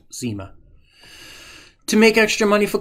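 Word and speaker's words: nsima: in the form of porridge called sima, pronounced zima.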